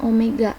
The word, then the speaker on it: omega: Omega nah ini namanya Omega biasanya ini Omega tulisannya kayak W ini tapi dibacanya Omega Omega itu adalah kecepatan